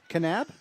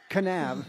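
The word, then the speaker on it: Kanab: Are you sure you pronounce that correctly? Canab. Yeah. Oh, yeah. It's not NAB. Canab. Okay. Canab.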